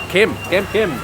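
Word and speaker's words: kem: If you ever see a sign around, it's spelled K-E-M. Kim.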